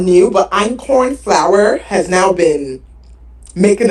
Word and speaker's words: einkorn: It's not new, but einkorn flour has now been making its way on TikTok and social media. It's a healthier flour substitute for all-purpose flour. Have you seen that einkorn?